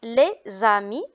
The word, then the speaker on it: les amis: Alors on a aussi les amis. S devant une voyelle, on fait la liaison, on dit les amis.